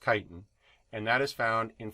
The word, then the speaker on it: chitin: about is chitin yeah i'm not cheating you this is this is actually pronounced chitin and that is found